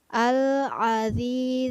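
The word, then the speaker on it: الذي: lhya bukan al-aziz uh tapi alladzi lu menggunakan huruf dza kemudian lafazh al qaf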